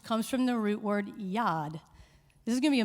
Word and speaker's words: yad: yada and toda are two of those words and